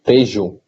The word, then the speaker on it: Tejo: How do you say the river? Tagus? Tagus? Tejo. Tejo. It's better Tejo. Tejo. But it's hard to pronounce. Yeah, almost. It has two pronunciations. Depending where you live.